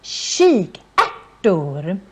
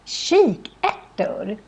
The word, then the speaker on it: kikärtor: And in Swedish, it's pronounced kikärtor. And it's very different from when you see it. Because if you would see this very fast, maybe you would think it's kikärtor. But no, it's pronounced kikärtor. So, kik would be the chick part. And then ärtor is how we say peas.